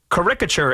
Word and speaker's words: caricature: The correct pronunciation is definitely with the accent on the first syllable, not the second.